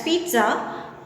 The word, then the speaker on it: pizza: Okay, moving to the next example, पिज़्ज़ा which is pronounced as pizza, which most people love is not very healthy.